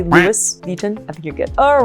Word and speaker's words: Louis Vuitton: So again, because the S is at the end of the word here, so there's no pronunciation of the S, it's Louis, not Louis, and Vuitton. So for the Vuitton, when you see a U and an I, it's pronounced I, Vuitton. And whenever you see an N in French, it becomes really nasally like back of the throat. Vuitton, Vuitton, Louis Vuitton.